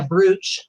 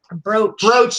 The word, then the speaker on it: brooch: But your Etsy store, Once Upon a Brooch. Brooch. You said you pronounce it brooch. I don't know. It's 2 O's. What do I look like? Somebody who's broaching shit? Whatever. Anyway, it's a brooch.